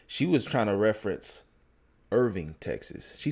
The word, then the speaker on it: Irving: But she meant to say Irving. We got a Irving, Texas. It's not spelled like Irvine. It's Irving.